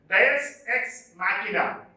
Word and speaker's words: deus ex machina: The pronunciation of the word is like this: Deus ex machina.